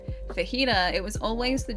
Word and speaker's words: fajita: You wouldn't understand that it's a soft J in, you know, jalapeno or for Holly's or fajita.